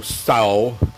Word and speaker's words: Tso: It's General Tso's, T-S-O, Tsao, T is silent. Some people really screwed that up.